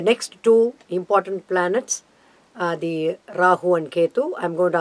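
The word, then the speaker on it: राहु: Ketu Rahu Ketu Allah Oh Rahu that's a correct pronunciation okay rah it's a detail later what we call the long letter Rahu Rahu and then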